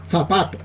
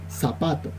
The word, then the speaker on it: zapato: de grabación adecuados pero se tendría que pronunciar zapato pero nosotros la pronunciamos con la s zapato y encima la pronuncian